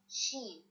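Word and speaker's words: شين: The sound of this letter is sheen, sheen. But the pronunciation, when you need to read it, you will say sha or ish, sha or ish, sha or okay.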